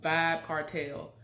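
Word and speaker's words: Vybz Kartel: this man's name or his stage name is pronounced vibe cartel I've never listened to his music like that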